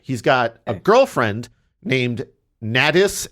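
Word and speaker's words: Nadys: got a girlfriend named ntis n a d y s I'm just pronouncing it like glattus but with an N at the beginning yeah ntis Bland in his girlfriend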